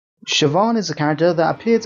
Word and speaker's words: Siobhan: go through it quickly also sioban is how you pronounce her name even though I might have been calling her Coban for a while shoban will be a